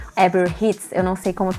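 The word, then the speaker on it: Herb Ritts: como o fotógrafo que todo mundo conhece, o dono de vários ensaios icônicos, que é o Eber Ritz. Eber Hits, eu não sei como pronuncia esse R.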